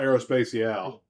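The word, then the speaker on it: Aérospatiale: How do you pronounce that, Mac? The aerospatial? I call it Aerospatiale.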